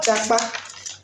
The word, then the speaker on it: japa: The word “japa”, spelled j-a-p-a pronounced j-a-k-p-a, was not originally a